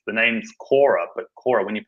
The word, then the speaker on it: Qorra: to resonate with the name it's the name's Kora but Kora when you pronounce in Italian it means cor it's heart